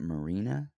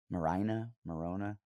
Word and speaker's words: Maryna: You guys always make fun of me by the way I pronounce names, but Maryna, why not just Marina? I mean, I guess she's Ukrainian. Maryna.